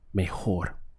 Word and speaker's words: mejor: be our go law mejor notice the H sound over here over the J mejor so I do the best are go lo mejor now to complete the